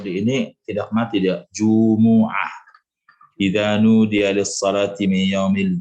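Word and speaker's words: جمعة: Tapi mungkin karena di lidah itu agak berat dhammah itu, maka dibacanya sukun Jum'ah. Tapi aslinya dia ya kalau baca Quran itu mimnya dhammah.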